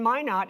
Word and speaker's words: Minot: For any of you who are struggling to pronounce Minot, which is spelled M-I-N-O-T, the phrase in Minot is, why not Minot, right?